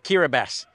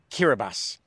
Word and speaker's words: Kiribati: island slat country of kirbas yeah I know it's spelled like it looks like kirati but TI in the local language is pronounced s hence kirbas so I said in